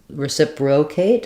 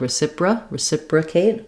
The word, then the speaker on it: reciprocate: Our letter O, again, is going to be reduced because it's in an unstressed syllable. So instead of reciprocate, it's going to sound like reciprocate, a schwa there.